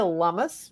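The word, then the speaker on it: Lummis: to go with Senator Cynthia lumus rhymes with hummus of Wyoming who was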